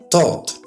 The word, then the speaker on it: taught: Taught. Thought. Notice there is no th here. Just a clear t sound.